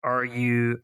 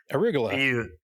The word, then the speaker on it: arugula: So speaking of things you pronounce weird, I had read that there's a leaf that's in some salads, and it's Aruglu. Arugula.